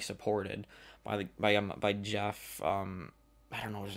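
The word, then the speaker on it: Geoff: Because it's spelled Goff. That's Jeff, right?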